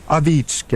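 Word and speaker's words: Ovechkin: now it is Alexander oetkin uh and for those of you that don't know in Russian it's pronounced Alexander Aitkin and yeah you can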